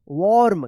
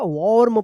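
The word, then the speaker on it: warm: पढ़ेंगे देखिए यहां पे अब डब्ल्यू के बाद ए है तो ये भी है और ए के बाद आर भी है तो इस ए का औ उच्चारण होगा यहां पे भी और क्या होगा वॉर्म पढ़ेंगे वॉर्म वार्म नहीं होगा यहां पे वार्म होगा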